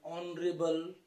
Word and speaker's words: honorable: Then he is occupying an honorable position, honorable person. So H is not pronounced, it remains silent.